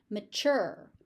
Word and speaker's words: mature: Mature. Mature. The tu becomes a ch.